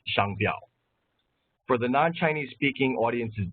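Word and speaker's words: 商标: very short Chinese lesson our domain extension is pronounced Shango which means trademark and is written in the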